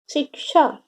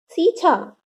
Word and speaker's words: शिक्षा: छ तथा अक्ष के उच्चारण में अंतर रखना चाहिए। अब ये छ है तो हम यहाँ क्षमा बोलेंगे। ये छ है, ये अक्ष है, इसको क्षमा, परीक्षा, शिक्षा। अब इसे हम क्षमा, परीक्षा, सीछा नहीं बोल सकते।